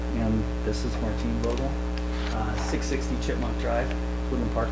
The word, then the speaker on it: Vogel: I'm Vogel, and this is Martine Vogel, 660 Chipmunk Drive, Woodland Park, Colorado.